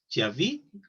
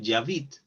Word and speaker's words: j'habite: Nada más recuerda pronunciarlo también para que te vayas acostumbrando a que el sonido de la e al final no tiene sonido, ¿sí?